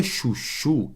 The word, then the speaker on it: chuchu: naquela palavra por exemplo olha esse ch aqui ó na palavra chuchu olha aqui comigo ó repara que na palavra chuchu esse ch ele tem som do que de X então juntei duas letras para formar apenas um som só esse ch tem o som de não é o som de X tá vendo então ó